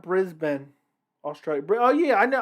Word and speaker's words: Brisbane: in the chat i greatly appreciate it it's pronounced brisbane australia oh yeah i know i i have